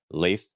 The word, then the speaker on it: Leif: Leif is actually how this Leaf pronounces his name.